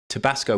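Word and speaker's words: Tibasko: These people were called Tabasco, but spelt with a K. Tabasco with an I and a K.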